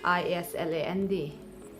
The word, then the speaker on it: island: like in the words i-s-l-a-n-d s is silent and it's pronounced as island a-i-s-l-e il and then